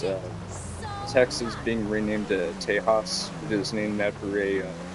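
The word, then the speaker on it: Tejas: So, so the name Tahas, which it's not T E H A S, it's T E J A S, but you pronounce it as Tahas.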